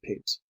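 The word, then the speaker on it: Pepys: of a place with that of Samuel peeps pronounce peace of London whose celebrated diary covers the decade of 1659 to 69.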